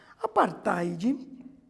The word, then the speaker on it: apartheid: Apartheid, que se escreve ali, ó, também diferente, ó, A-P-A-R-T-H-E-I-D, apartheid.